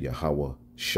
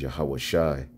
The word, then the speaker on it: Yahawashi: definite name and although she was off on the pronounciation all right she said yahawah Shi all right the name is yahawashi she's closer than these